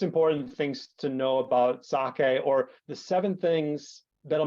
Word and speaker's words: sake: one is of course the pronunciation and that's sake uh not sake somehow when I hear saki I I wince yeah well you're gonna